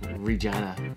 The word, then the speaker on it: Regina: can bend a quarter and regina rhymes with fun okay deadpool you're an